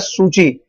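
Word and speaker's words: Suu Kyi: एक सेकेंड, हाँ देखिए ये आंग सान सू की प्रोनाउंस्ड एज सूची, won the election 1990s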